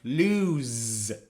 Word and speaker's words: lose: But the second one is pronounced lose with the sound of z.